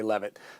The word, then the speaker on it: Leavitt: Is it Leavitt or Leavitt? How do you pronounce it? It's Karoline Leavitt, and it's Karoline with